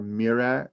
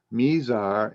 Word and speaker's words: Mizar: dipper the two stars names are mira sorry i take that all back misar and alcor m-i-z-a-r mesar and alcor a-l-c-o-r not